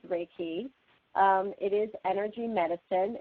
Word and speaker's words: Reiki: so what is raiki raiki is pronounced exactly how it's exactly how it sounds raiki um it is Energy